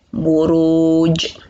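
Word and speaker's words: البروج: Buruj. Ada pantulannya, buruj. Asal harokat jim itu kasroh, harusnya dibaca ji.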